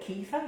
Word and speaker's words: kefir: with your kefir if you're not familiar with caffei or kefir however you want to pronounce it they're just a little culture and